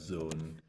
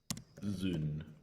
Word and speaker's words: Zoon: how I spell it it's actually spelled zoon but pronounced Zone Jack zun but in he always